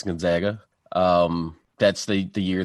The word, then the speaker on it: Gonzaga: checks in with gonzaga with the proper pronunciation not gonzaga it's gonzaga i believe um and prestige